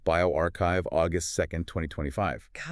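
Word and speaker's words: bioRxiv: It was posted on Biovu, that's pronounced bioarchchive, August 2nd, 2025.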